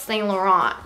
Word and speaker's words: Saint Laurent: I just bought this Saint Laurent bag. And I'm like, honey, it's not even how you say it, it's Saint Laurent.